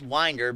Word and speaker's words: Winder: winter Berra high school or in things pronounced winder but Winder Georgia and winder-barrow high school Trent